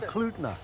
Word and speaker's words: Talkeetna: Talkeetna. El Duitnu. Okay. Talkeetna.